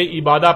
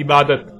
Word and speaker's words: عبادت: کی آواز میں بدل جاتی ہے، یعنی اسے عبادہ پڑھا یا بولا جائے گا۔ عربی کا لفظ